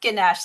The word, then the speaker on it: Ganesh: I it's pronounced ganesh like a sh on the end.